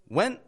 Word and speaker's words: went: when they went home notice I'm not releasing the T on the word went neither am I pronouncing that n very long it's actually short and kind of quick went home when home